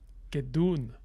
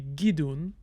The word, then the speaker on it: gidun: Now I'm gonna just change the vowel on that minor syllable to be gidun because the minor syllable has a more restricted vowel inventory than the major syllable. So it has to be a, I, or u.